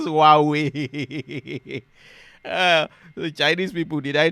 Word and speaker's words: Huawei: The pronunciation says Huawei. The Chinese people, did I try? Huawei.